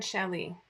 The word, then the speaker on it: challis: It's rayon chelly. And Challis is spelled Challis because, you know. And I just learned how to pronounce it when my mother corrected me live on TV once.